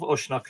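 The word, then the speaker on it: Usnach: And, it is how the sons of Ushnock, I keep saying Ishnock because that's the way I pronounce modern Ishnock. It is how the sons of Ushnock lived.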